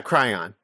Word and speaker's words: Cryon: Okay, I've been pronouncing them cryon for the past few minutes. So anyway, maybe it is cryon. Yeah, cryon. You're right. It's like crayon, but without the A. Okay, cryon.